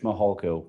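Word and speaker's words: Mihalko: court reporter you bet my name is mahalko good morning I'm a commander with the El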